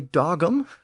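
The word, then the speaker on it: dagum: days by the way dogum retained its original G sound in the middle here as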